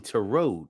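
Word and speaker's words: Tureaud: yeah tarot but but his last name is spelled t-u-r-e-a-u-d so it's really to Road assistant Emily popped out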